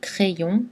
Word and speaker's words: crayon: plus y plus voyenne cette combinaison est normalement prononcé en deux syllabes comme dans crayon ou crayons effrayant ou